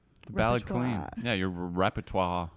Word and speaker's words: repertoire: Yeah, your repertoire. Repertoire. Is it repertoire? Well, yeah, repertoire. I think is the French pronunciation.